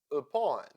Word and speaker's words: upon: Upon. Let's count the syllables here. Upon. Two syllables and the second one is stressed. So the letter U in the first syllable sounds upon.